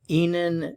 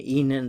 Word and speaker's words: Ihnen: be Enon Escape and notice that Enon it's pronounced the same as the next one Enon that's capitalized the one